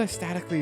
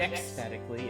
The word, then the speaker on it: aesthetically: I thought aesthetically is like with an X. Oh, it's C. Is it a C? Oh, boy. Aesthetically. Aesthetically. It's not ecstatically, it's aesthetically.